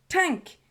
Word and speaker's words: TANGK: going to be reviewing tank by idols and it says it's pronounced cuz I know it's t a n g k it's pronounced tank with a whiff of the G I'm not sure how